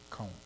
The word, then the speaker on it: Cohn: Cone. Like Spell that. C-O-H-N, but you pronounce it like Conehead.